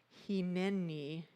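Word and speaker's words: הנני: a wonderful hebrew word hini h-i-n-e-n-i it is pronounced with long e's he knee and it translates to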